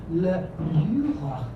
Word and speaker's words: Louvre: Every young man of the world who visits Paris should see Le Louvre. I gave it a very French pronunciation with a raspy R in the rear of my throat, and he looked dubious.